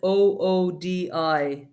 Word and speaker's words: Oodi: about that particular library, it's a funny word. You have to spell it Oodi, Oodi. Yeah. So yeah, it's pretty much the equivalent of an ode in English.